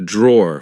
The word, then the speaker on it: drawer: said be careful because in British English we don't pronounce the e at the end we just say draw here we have my